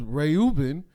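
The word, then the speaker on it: רְאוּבֵן: Therefore, Leah naming her son Reuben, and incidentally, the way you pronounce Reuben in Hebrew is Reuben, and you hear the word ray.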